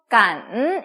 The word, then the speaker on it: 感: G 할 때 이렇게 읽기 때문에 그 발음이 나와야 돼요. GAN 어떻게 읽습니까? 삼성이 들어갔어요. 간 이렇게 읽습니다. 간 뒤에 D가 나왔죠?